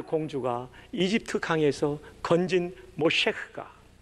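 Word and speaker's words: משה: 모셰. 히브리 말로 그렇게 발음합니다. 그것은 물에서 건졌다. 여러분 놀랍지 않습니까? 파라오의 딸 공주가 이집트 강에서 건진 모셰흐가 그 민족을 홍해 바다에서 건지는 인물이 되는 거예요.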